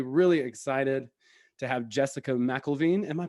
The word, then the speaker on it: Mcilveen: i'm really really really excited to have jessica mcelveen am i pronouncing that right is it michael veen yeah you got it first time okay wonderful